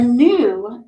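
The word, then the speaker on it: gnu: to make the sound another silent letter as always at the beginning of a word is G so this is the word not and this is the word new and a new is an antelope it's an antelope and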